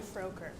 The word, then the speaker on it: Froker: And it's actually Froker. Froker? Yes. I've been pronouncing it around all this time.